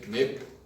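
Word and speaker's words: 넷: Viu que a gente não pronuncia a última letra, né? O Se, Ne.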